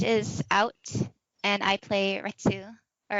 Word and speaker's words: Retsu: And then Hunter x Hunter Phantom Rouge is out, and I play Retsu. Or I believe it is pronounced Rets, but they spelled it Retsu.